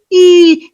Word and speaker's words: heel: That first one is that short hell. Then we have the 2 long ones of heel, heel, long sound. And then hill is very short.